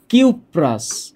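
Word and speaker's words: cuprous: এখানে বলতে হবে কিউপ্রাস, নামটা হচ্ছে কিউপ্রাস, আর এইখানে নামটা হচ্ছে কিউপ্রিক। কিউপ্রিক। তাহলে নামের শেষে উচ্চারণটা হচ্ছে আস।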